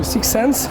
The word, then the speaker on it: 6Sens: bienvenue au sixens je prononce bien oui 6ens ouais on va le